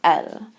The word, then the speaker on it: elles: pronounced the same way El plural and El singular are pronounced the same way because we aren't pronouncing that s now here you're going